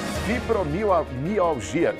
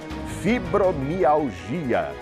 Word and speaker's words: fibromialgia: Depois do intervalo a gente fala sobre fibromalgia. Que nome, né, rapaz? É um travaalíngua. Deixa eu pronunciar certo aqui. Fibromialgia.